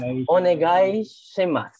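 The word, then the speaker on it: お願いします: So this is right as onegai shimasu. Onegai shimasu. Okay, very good. So let's try again. The last one you don't pronounce. No, we don't pronounce the su. So it becomes a silent.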